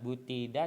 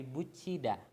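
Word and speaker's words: 붙이다: Yang keempat dibacanya bucida, bukan butida tapi bucida.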